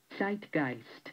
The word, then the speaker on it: Zeitgeist: time that movie Zeitgeist how do you I'll make sure we pronounce it right hang on hang on where is it here uh site gist yes site gist yes that